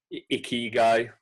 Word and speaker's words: Ikigai: Ikigai. So it's spelled Ikyigai.